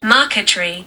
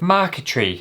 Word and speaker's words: marquetry: Marquetry, or how to even pronounce it, cuz I know I'm butchering that. Maretry. Marquetry. That sounds nicer, doesn't it? What was I saying? Marq tree, idiot. So, apparently mark tree is a decorative art